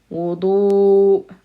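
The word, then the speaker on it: وضوء: So we have a short wow with a dhamma. Wow doesn't connect. We have a heavy D sound. Wudu, followed by a wow, and then there's a sound at the end.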